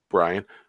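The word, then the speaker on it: Brion: fun as always yeah man how do you pronounce the um the first word of your handle there man Brian yeah I've never seen it spelled that way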